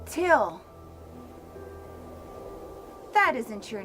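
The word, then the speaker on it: Thgil: My name is Till. It's spelled T-H-G-I-L, but it's pronounced Till.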